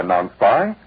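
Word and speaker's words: Non-Spi: Yes, the Better Fabrics Testing Bureau reports that their analysis shows no damage can be done to clothing by non-spy if user follows directions.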